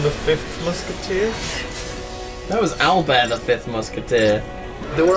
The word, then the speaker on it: Albert: I was totally into Alber the fifth musketeer and that's Albert pronounced French not DND D enemy you